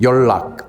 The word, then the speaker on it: 연락: Another example I wanted to give was 연락. 아, 맞아요. 이거 연락. N하고 니은하고 리을은 절대 같이 발음할 수 없어요.